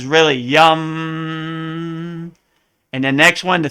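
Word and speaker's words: यं: it's really rum so you see how the a is really a u in and really how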